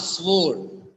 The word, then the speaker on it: sword: okay so SW not sword SW sound for w w is also silent here SW SW it's not